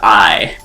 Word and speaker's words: AI: focus on the word I like literally the word AI in the in the title is pronounced I and it's actually a pun they they kind of